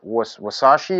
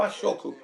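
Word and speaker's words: 和食: Did I pronounce it wrong? Is it wasashi or is it wakashi or? It's like the healthy Japanese diet. That's like. Oh yeah. What? How do they say that? Washoku.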